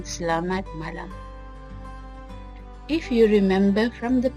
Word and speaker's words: Selamat Malam: Learn Malay Unit 1, notice that I pronounce se, not si or say or se. Pronounce la as in la la land, and mat you may clip the T sound doing away with the sound like this, mat, or you can pronounce the T softly like mat. Pronounce ma as in ma in mama. Pronounce lam like I pronounced it.